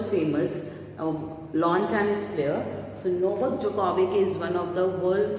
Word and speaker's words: Novak Djokovic: first picture is of Novak Djokovic. So D is silent in it. Okay, so the first picture, as you can see on your book, okay, in your book, this is Novak Djokovic.